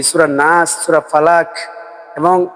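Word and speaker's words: فَلَقِ: এক পেশকে হরকত বলে, আর হরকত হলে তাড়াতাড়ি করে বলতে হয়, যেমন ফালাকি।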